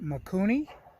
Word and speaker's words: Mikuni: So I got the carburetor here in my hand, and they pronounce it Mikuni.